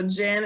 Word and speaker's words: Gin: nobody can pronounce it so jin is like gin and tonic it kind of you